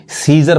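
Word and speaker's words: Caesar: रहा अब यहां देखिए यहां भी सीजर पढ़ते हैं यहां पे ए साइलेंट है सीजर क्या तो रोमन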